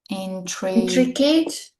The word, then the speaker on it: intricate: Pay attention to the pronunciation. The stress is on the first syllable.